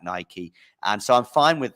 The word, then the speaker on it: Nike: also because I believe the correct pronunciation of what I believe as a Greek god is in fact Nike and so I'm fine